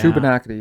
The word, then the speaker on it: Shubenacadie: Shubenacadie, yeah.